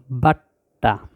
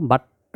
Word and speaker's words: বাট্টা: ট ট আকারে টা বাট্টা উচ্চারণটা এভাবে বলতে হবে ব আকারে বা ট বাট্ট আকারে এটা বাট্টা এটা একসাথে দ্রুত বলতে হবে বাট্টা তারপরে এখানে দেওয়া